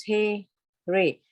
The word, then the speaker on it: Hare: The words Hare pronounce He, Re, Krishna pronounce Krishna, and Rama rhymes with Rama are Sanskrit words.